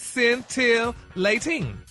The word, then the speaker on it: scintillating: And it's an adjective and it's pronounced scentilating.